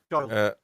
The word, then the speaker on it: Giles: Lynn Giles, is that how you say it? Giles? Yeah, Giles.